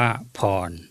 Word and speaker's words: พร: ไทย เรา ก็ เป็น พ พาล ร เรือ อ่าน ว่า พร ถ้า เป็น ภาษา มคต